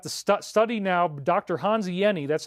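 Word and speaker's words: Hans Jenny: Hanzi Yeni, that's how you pronounce his name.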